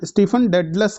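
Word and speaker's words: Stephen Dedalus: ठीक है ना, स्टीफन डेडलस कह सकते हैं आप इसको, पूरा करेक्ट प्रोनाउंसिएशन।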